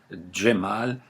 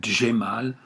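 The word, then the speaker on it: Cemal: Vous regardez comment ça s'écrit, Djemal, souvent vous allez le retrouver avec un D et un J, mais les Turcs aujourd'hui l'écrivent avec un C. Le C en turc se prononce Dje.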